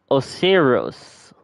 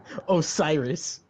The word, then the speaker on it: Osiris: Osirios. It's Osiris.